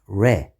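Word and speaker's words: ر: letter this letter is re is the 12th letter of the persian alphabet this letter sounds like r in english but it should be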